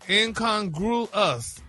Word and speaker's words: incongruous: No, he had the last syllable wrong. He just Now you got the Now you got the right syllables and it's broken down for you. Yeah, break it down. Incongruous. Yeah, there you go.